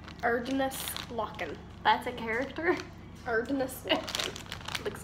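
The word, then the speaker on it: Erdnußlocken: That weird character is pronounced like an S. Erdenlocken.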